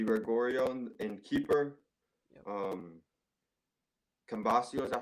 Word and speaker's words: Cambiaso: um Cambasio, is that how you pronounce his name? Cambiaso, yeah.